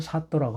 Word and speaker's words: 사또: 그래서 나란 일을 다스리는 데 있어서 일을 시키다는 사람을 사또라고 한다. 원래는 사도인데요. 사도인데 이게 된소리로 발음나서 사또 그렇습니다. 그래서 사또라고 하는 거예요. 원래는 사도입니다.